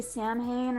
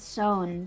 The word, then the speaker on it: Samhain: not sure it's um just pronounced very different from what it's written and so it you would want to say samhain or something like that or some hain but i researched it and it's sewn so thought confused you